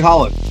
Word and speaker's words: Haaland: So the next one, I don't want to really butcher the name. Is it Haaland? Yeah, you got it. Erling Haaland.